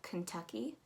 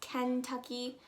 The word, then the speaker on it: Kentucky: underneath there we have kentucky um you're actually not going to pronounce it as kentucky like the barbie doll ken you're going to pronounce